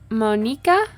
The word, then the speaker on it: Monika: Honestly, I think because, like, if it's a Japanese name, I do think that that would make sense. Monika. Monika. Maybe I'll try to say it like that from now on. It just looks like Monica with a K to me, you know?